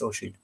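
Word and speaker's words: Oisín: Oisin and everything they call him, it's Oisin. Tig is another one they can't pronounce.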